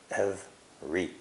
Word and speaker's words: every: Remember that to is pronounced t, and every is only 2 syllables, every.